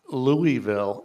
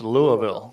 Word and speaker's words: Louisville: Hey, but it's like some towns in cities in America, like it's not Louisville, it's Louisville. Louisville. But if you look at the spelling, it's Louisville, but it's pronounced Louisville.